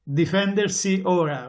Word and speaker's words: Difendersi Ora: Difendersi. Yeah, say it for me, will you? It's Difendersi Ora, which means defend yourself now.